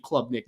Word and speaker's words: Klubnik: I think Clemson is, again, a very good team in 2023, but I am selling the Heisman hype for Cade Klubnik in 2023. Hell of a pronunciation there, by the way.